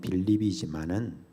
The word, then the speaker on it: 빌립: 하는 그런 뜻이 있습니다 원래 이제 우리 발음으로 빌립이 원래 헬라어로 말하면 필립 이렇게 이야기를 합니다 그래서 영어로도 어